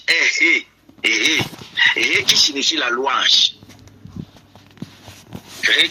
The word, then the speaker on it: ה: Le H est Hé qui signifie la louange. Hé qui signifie la louange et la valeur numérique c'est 5. Donc, apostrophe, et ça se lit Hé.